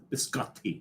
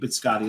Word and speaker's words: biscotti: Biscotti. It's a cookie. You got to pronounce both te's.